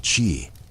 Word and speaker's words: Qi: Dies unsichtbar, kraftvoll Energie namens Qi, ausgesprochen Qi, durchströmt jedes Lebewesen.